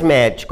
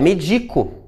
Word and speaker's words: medico: E aí, no caso, quando elas atuam como verbo, há um deslocamento da sílaba tônica aqui. Não é mais médico, é medico.